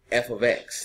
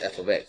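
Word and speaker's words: f(x): I have f ofx. That's how you say it. It's not f* x, that's f ofx.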